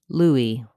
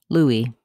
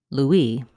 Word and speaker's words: Louis: comom presents how to pronounce Louie in English and in French in English this name is pronounced Louie with first syllable stress the S is silent Louie we also have a